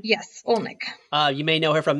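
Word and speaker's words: Oleynik: Yes, and she's played by Larissa Olnick. Is that how you say her name? Yes, Olnick.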